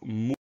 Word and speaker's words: mourir: Le mot suivant, c'est le mot mourir. Première syllabe, mou, M-O-U. Tout simplement, deuxième syllabe, rire, R-I-R.